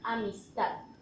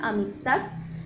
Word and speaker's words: amistad: ejemplo en la palabra amistad. El tono más fuerte de la voz, cuando pronunciamos esta palabra, amistad, lo hacemos en la última sílaba, ta.